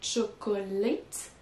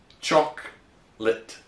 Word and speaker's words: chocolate: We reduce it to 2 syllables and say chocolate. Est-ce qu'on peut aussi préciser où est l'accent tonique? It would be in the beginning, so it's choc and lit. Let. Donc la première syllabe est accentuée, chocolate. Et la deuxième, elle est pas accentuée.